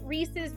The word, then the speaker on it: Reese's: we're at 60k I like the first one because Reese's rhymes with pieces hey no no